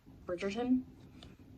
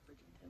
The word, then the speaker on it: Bridgerton: read romancing mr bridgington bridgerton i gotta get that right because i always say it like bridgington but it's bridgette but uh